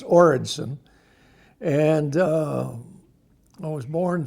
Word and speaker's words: Oredson: o or Edson that's pronounced origon and uh I was